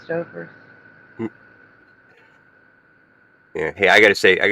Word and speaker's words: Stouffer's: People pronounce it Stoffers. Hellcat, you remember? You've heard people pronounce it Stoffers. I've only heard Stouffer's.